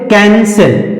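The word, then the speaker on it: cancel: और आगे कैंसल friends इसमें भी सी के तुरंत बाद ए आया तो सी के तुरंत बाद ए आया तो सी का उच्चारण का में होगा और यहां इसी शब्द में सी के तुरंत बाद ई आ रहा है तो इस सी को सा पढ़ेंगे और इस सी को का पढ़ेंगे क्यों क्योंकि इस सी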